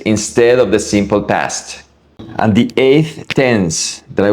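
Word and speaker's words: han: formal, hemos for we, and for they or you guys, you plural. Remember that the letter H is silent, so the pronunciation is going to be e, as, a, hemos, an.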